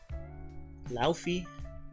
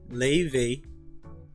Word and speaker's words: Laufey: Leve? That's not a V, that's an F.